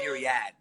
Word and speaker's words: myriad: what's the proper pronunciation is it miriah or myriad it depends on how fancy you want to be how did you say it niriad